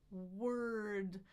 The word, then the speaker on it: word: So my tongue is in the back. My lips are forward. I release my lips as my tongue goes to the middle for the schwa. Lift it for the R, ra, on the bump for the D. Erd, word.